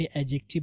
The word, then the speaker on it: adjective: इसको एडजेक्टिव पढ़ते हैं बट एडजेक्टिव है डी को साइलेंट पढ़ते हैं इसलिए बोलेंगे एडजेक्टिव okay एडजेक्टिव what is एडजेक्टिव